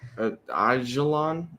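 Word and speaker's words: Aijalon: Aelon I think the J is silent.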